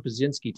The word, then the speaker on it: Pyszczynski: event for this country, my guest is Tom Pyszczynski. Tom, am I pronouncing that correctly?